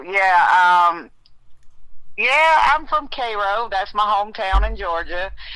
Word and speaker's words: Cairo: It's actually they pronounce it Cro like the ser. Okay, there you go. Yeah. Uh so yeah. Um yeah, I'm from Cairo.